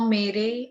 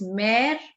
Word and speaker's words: mère: classes also speak more mere and more pere. Please make this thing very clear in your mind that there is no accent on the second E of mare and pair. Okay? So it's mare and pair.